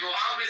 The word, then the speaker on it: Muhammad: Why do you say you can You have to pronounce it like you have a fucking, you have some phlegm in your throat.